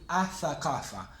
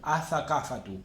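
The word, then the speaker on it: الثقافة: Y si queremos decir la cultura, le vamos a agregar el artículo al, pero la L no la vamos a pronunciar. Y vamos a decir athaqafa. Athaqafa, la cultura. O athaqafatu, como quieran.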